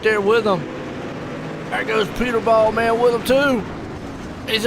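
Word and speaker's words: Puterbaugh: You got a pronunciation for Peter. Pooter. What I get? It's pronounced Put. Pooterball. Put-er-ball. Putterball.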